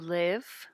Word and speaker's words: live: she lives it lives remember the verb live has a short I it sounds like in a in live live live in it's the same sound short I it live I live